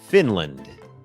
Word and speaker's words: Finland: ฝึก ออก เสียง Finแลนด์ อ่าน ว่า Finland Finland โอเค อัน นี้ บ่ง บอก ว่า อ่า จำ ได้ มย อัน นี้ ก็ เน้น พยางค์ ขึ้น สูง Fin fin พยางค์ ไม่ เน้น L Finland Finland เหมือน กัน ครับ